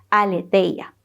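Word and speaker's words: ἀλήθεια: Ahora, etimológicamente, verdad, según el griego, es una palabra que se pronuncia más o menos así, aletheia, y significa lo que no está oculto.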